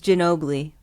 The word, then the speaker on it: Ginobili: It's Ginobili. Is it Oh, Manu Ginobili? Mono Ginobili.